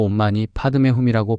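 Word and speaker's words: 옴 마니 파드메 훔: 산스크리트어로 온만이 파드메훔이라고 발음되는이 진원은 한국식으로는 온만이 반매으로 널리 알려져 있습니다. 티베트 불교에서는 관세음보살림의 근본 진원으로 여겨지며 모든 부처님의 자비심이 응축되어 있다고 전해집니다.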